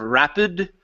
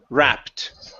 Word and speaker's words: wrapped: Uh right here instead of rapid. Okay. It's wrapped.